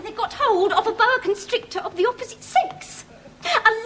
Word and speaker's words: boa constrictor: A Bac instructor. No, they pronounced it boa constrictor.